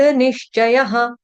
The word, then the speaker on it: निश्चयः: उसके बाद यतात्मा दृढ़ निश्चयः यतात्मा दृढ़ निश्चयः यतात्मा दृढ़ निश्चयः श य के आगे विसर्ग विसर्ग का उच्चारण ह की तरह मर्पित पिता त पूर्ण और यहां पर पित्त में क्या है?